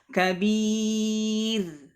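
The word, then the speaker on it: كبير: Seharusnya dibaca tipis malah dibaca tebal. Nah, nahwu contohnya kabir, basir, khair, tipis, ya. Jadi tidak dibaca tebal. Kabir, basir, khair. Nah, tidak. Tapi dibaca tipis. Kabir, basir, khair. Ya, dibaca tipis.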